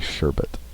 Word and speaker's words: sherbet: lot of people say I think I say sherbet instead of sherbet it's actually sherbet yeah it's spelled like Sherman all right let's what